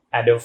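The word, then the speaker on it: Adobe: ভুলে অনেকে অনেক সময় এটাকে অ্যাডোব বলেছি, অ্যাডোব reader, অ্যাডোব Photoshop, but actually it is sound like অ্যাডোবি। অ্যাডোবি এটা একটি আমেরিকান সফটওয়্যার কোম্পানি, যারা নানা ধরনের সফটওয়্যার তৈরি করে থাকে। সো ওয়ার্ডটা প্রোনাউন্স হবে অ্যাডোবি।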